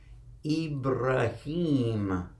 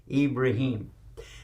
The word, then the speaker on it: Ibrahim: and his name is ibrahim and in arabic that is the way you pronounce it in english we say abraham but is no real ham in his name it's ibrahim and we have a